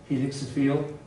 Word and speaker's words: helixophile: I pronounce it helixophile.